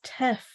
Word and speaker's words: teff: Yeah, I mean, the only reason I talked about teff, I think it's spelled TEFF.